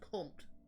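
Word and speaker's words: comte: bit dirty or provocative but it's pronounced comp the translator the fre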